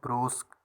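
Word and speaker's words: brusque: सो इसका प्रोनाउंसिएशन है ब्रूस्क।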